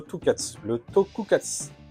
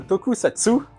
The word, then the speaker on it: tokusatsu: Donc, par exemple, le tokukatsu. Ah, je bégaye. Le tokusatsu, alors je le prononce sans problème d'habitude, hein, vous pouvez me croire, là il fallait évidemment que je n'y arrive pas.